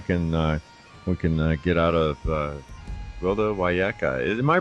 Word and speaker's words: Wiyaka: see what we can get out of Gwilda Wiyaka. Am I pronouncing your last name right?